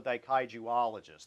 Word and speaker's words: daikaijuologist: I'm what's called a daikaijuologist. That's like a Trekkie for Godzilla. I have... It's a little harder to pronounce than Trekkie, though. Yeah. You can't, wait, how do you say that again? Daikaijuologist. Which in Japanese means study of giant mysterious beasts.